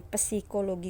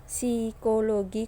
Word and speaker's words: psikologi: semua bahwa psikologi komunikasi kalian Bacanya jangan pesikologi komunikasi ya tapi lebih pada psikologi Komunikasi seolah-olah punya itu tidak ada nah untuk tujuan daripada